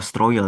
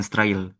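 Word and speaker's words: строил: Oh, stroil ya. Bukan strail. Stroil bacanya.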